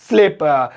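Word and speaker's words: sleep: तो तुम अभी तक नहीं सोए, still you डिड नॉट स्लीप, यानी डिडंट स्लीप। तो ये हो गया, स्लिप नहीं स्लीप। हो स्लिप तो फिसलना होता है।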